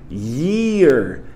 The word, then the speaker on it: year: Então, para pronunciar ano, é só você fazer um yes, como se fosse fazer um yes. Yeah, yeah. Só que você faz pro i, i, i, i, year, year, year.